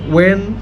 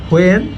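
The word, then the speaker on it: when: এই এইচের উচ্চারণটা সাইলেন্ট হবে সবসময়, নট। দেখেন উই ক্যান say which, war, দেন ওয়েন, দেন ওয়াইল, নট হোয়েন, হোয়ার, হোয়াইল।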